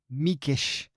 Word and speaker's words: Mikes: Now, the author is a guy named George Meekish. but his name is spelled Mikes, like Mike's.